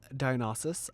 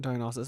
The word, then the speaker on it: Dionysus: It starts off with a cult of Dionysus, I believe is how you say that. Dionysus, who was I had to Google this as well cuz I didn't know.